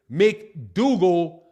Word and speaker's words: McDougall: said yo oh you pronounce my name like it is mcdougall rhymes with google oh make me google